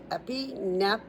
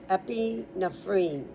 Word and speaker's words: epinephrine: Epinephrine. I'm pronouncing the PH like an F. That's the only way I can see it. Epinephrine.